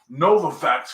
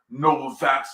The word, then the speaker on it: Novavax: pfizer johnson johnson and jova facts nova fax correction that's somebody doing that again because i would have pronounced it noble facts like it's pronounced no one is going